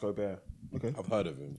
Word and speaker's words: Gobert: I watched his new Rudy Gobert pronounced Gobert he's seven foot two